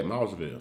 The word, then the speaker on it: Mossville: Do you know like Moss? Moss. Oh, Moss. Yeah, Mossville.